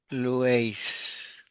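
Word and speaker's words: λύῃ: y hay una iota, la iota va suscripta, así que se lee Lues, porque la iota se escribe, pero no se pronuncia, ¿sí? Lueis y Lue, ¿ves?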